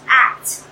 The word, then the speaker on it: ACT: So today I'm going to be giving a talk on acceptance and commitment therapy, which is abbreviated ACT and pronounced ACT.